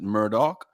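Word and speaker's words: Murdaugh: spelled like that murder but they could they pronounce it Murdoch but I guess Netflix just came out with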